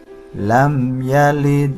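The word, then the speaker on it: لَمْ يَلِدْ: Bunyi huruf dal mati yang memantul pada lafadz lam yalid lebih kecil daripada bunyi dal yang memantul pada lafal lam yulad, karena posisi dal mati pada lafadz lam yalid berada di tengah-tengah kalimat, dan bacaan ini dinamakan qalqalah sughra.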